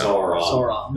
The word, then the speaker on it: Sauron: So like dinosaur. Yeah. Sauron.